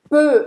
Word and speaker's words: peu: Peu. Então você vai fazer a boca do O fechado e vai falar E, certo? Peu. Boca do O, fala E.